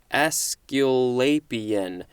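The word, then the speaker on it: Aesculapian: is a scalabian all right let's check the pronunciation askeolapian capital a e s c u l a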